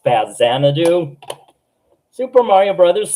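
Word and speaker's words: Faxanadu: Faxanadoo. Uh, actually, I've got it wrong all these times. I believe it's pronounced Faz Xanadu, Super Mario Brothers 3,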